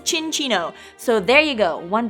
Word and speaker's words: Cinccino: we have learned that the proper way to pronounce its name is chin Chino so there you go